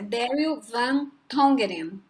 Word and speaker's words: Daryl Van Tongeren: Como se pronuncia, mas é Daryl Van Tongeren.